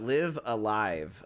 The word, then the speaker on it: Live A Live: I believe the game is pronounced Live a Live. So I've seen people also just call it Live Alive, so I guess it doesn't matter. So in hindsight, you can pronounce it any way you want.